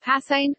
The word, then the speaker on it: Preußen: Prussia, German, Preußen, pronounced Passain, listen, was a historically prominent German state that